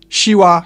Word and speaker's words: siła: She. It's like a softer sh, which I've already compared to English sh in shoe. Siła, siorbać, coś.